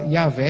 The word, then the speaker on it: Iavé: Em alemão, fala Iavé, apesar de escrever com J. Se fosse em latim, também diria Iavé, porque não existe o som de G em latim, e assim por diante. Então, se defende a pronúncia Iavé.